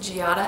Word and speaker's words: Giada: My first Gianna alternative I have is Giada. This is the Italian word for jade, and it is sometimes pronounced Giada as well.